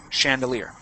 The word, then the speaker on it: chandelier: okay chandelier like this that's pronounced like a ch because it's french chandelier okay but in most